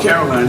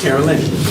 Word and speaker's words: Carolyn: I don't like to mispronounce people's names, because I don't like to be called Caroline. My name is Carolyn.